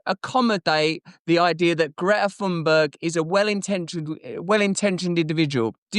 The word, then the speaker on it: Thunberg: You know, one thing I've learned is that we've all been saying Greta Thunberg's name wrong, because I saw her say it on camera and it was more like this. Greta Thunberg! It was like that.